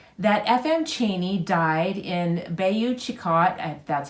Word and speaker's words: Bayou Chicot: pointing it noted that FM Cheney died in Bayou Chicot that's how you say it Louisiana but it